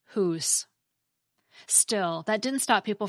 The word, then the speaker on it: hus: However, in the Middle English period, that final a sound got dropped completely, so that whether the word was spelled H-U-S or H-U-S-E, it was pronounced hoose.